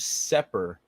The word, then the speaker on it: Sepehr: And it's Sepper, Robert Sepper, Sepehr. It's not Sepher. You're spelling it wrong, dog. And I was wondering if he spelled it wrong when he on his own YouTube, and then I heard him pronounce. He says, "I'm Robert Sepper." Blah blah blah. I was like, "Oh, silent H. This motherfucker with the silent H."